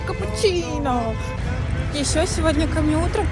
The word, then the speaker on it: cappuccino: Знаете, я поняла, что мы скучно произносим слово капучино. Точнее, остальной мир, кроме итальянцев, очень скучно произносит слово капучино. Потому что они здесь говорят капучино.